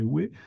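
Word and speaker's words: Huy: Je crois bien qu'on ne dit pas Ouez, mais Ouai. Et puis, donc plus au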